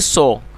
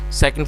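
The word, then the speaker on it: saw: बहुत से लोग इसको सा पढ़ते हैं जो कि गलत प्रोनाउंसिएशन है, आप इसको सा ना पढ़ें, जो इसकी सही प्रोनाउंसिएशन है वो है सॉ।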